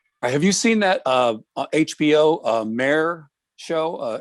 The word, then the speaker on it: Peduto: Mayor of something or other, but not mayor. But although Mayor Peduto does like his title to be pronounced mayor, but that's just a coincidence.